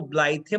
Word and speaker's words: blithe: Then we have the word ब्लाइथ, ब्लाइथ, इसको ब्लाइथे मत पढ़ना, इट्स प्रोनाउंस्ड एज ब्लाइथ.